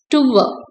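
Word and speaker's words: tour: ஸோ இது வந்து இது டூர்னு சொல்லுவோம் இல்லையா, actually it should be pronounced as டுவ, டுவ. R silent, D போட்டு ஊ அவ்வளவுதான், டுவ, டுவ.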